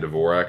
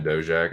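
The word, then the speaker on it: Dvořák: Everyone's saying Dvorak. It's definitely Dojack. If you listen to like the regional Czech fights and stuff. David Dojack. That's how you say it.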